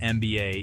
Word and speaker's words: MBA: The acronym MBA is pronounced MBA starting with a vowel sound.